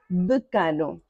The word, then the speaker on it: decano: Pois é, K é a sílaba tônica. Decano. Decano. Ok? Você não vai falar decano. decano, nem decanu, decanu, já não seria a mesma palavra, não é?